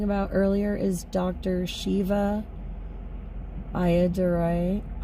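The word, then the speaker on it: Ayyadurai: Shiva Ayadurai, I think it's pronounced Ayadurrai, if I remember correctly.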